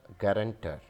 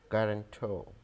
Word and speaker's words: guarantor: This is not guarantor, not guarantor. Rather, this is guarantor, guarantor, guarantor. We don't pronounce an R in the end.